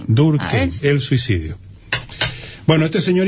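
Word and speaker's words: Durkheim: suicido de emil durc búscate a durkeim en la se escribe dur tal como te estoy esto K h e i m durc durc el suicidio Bueno este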